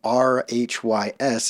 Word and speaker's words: Rhys: I found out the name R-H-Y-S is actually Welsh and is pronounced Rhys.